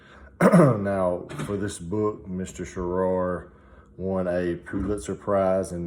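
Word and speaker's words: Shaara: It was by author Michael Sharar. I think that's how you say it. I've heard two different ways where you can say it, but I think it's Michael Sharar or Shara.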